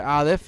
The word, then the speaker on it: Aleph: Letter Aleph is it's actually not really pronounced at all. It's a silent letter always.